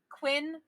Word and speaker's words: Quen: be quinn q-u-e-n q-u-e-n it's going to be pronounced quinn so it sounds like quinn but it's quen spell that one more